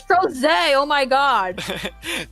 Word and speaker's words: Crozet: It's Crozet. Oh my god. T Crozet. T cross it. Crozet. Yes. We mispronounce in this channel.